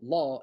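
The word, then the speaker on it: lá: which is a day so law is a day but law with the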